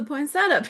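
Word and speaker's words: poinsettia: But but first one up is the poinsetta paper. Did we settle it? Heather says you can pronounce it as it's spelled like phonetically.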